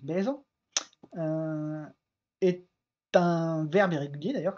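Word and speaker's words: bezañ: Mais le verbe être en breton, par exemple, qui se prononce baise, est un verbe irrégulier, d'ailleurs, comme c'est indiqué ici, qui est un joie et bonheur de conjugaison.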